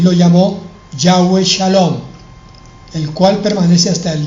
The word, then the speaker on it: Shalom: Shalom se escribe S-H-A L-O-M, Shalom.